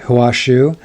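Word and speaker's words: Hua Hsu: It's strange because as I'm reading it, suddenly I just finished Stay True by Hua Shu, and I have the pronunciation of his name correct because I listened to it on audio.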